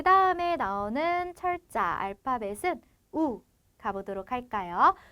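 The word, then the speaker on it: u: 그 다음에 나오는 철자 알파벳은 우 가보도록 할까요? 우 가보게 되면 얘는 우 소리 그대로 나게 되는 모음이다 라는 것을 아실 수가 있고요.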